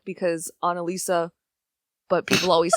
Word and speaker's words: Analisa: I'm not like Mona Lisa, because Analisa, but people always say it wrong, so they're like, oh, like Mona Lisa?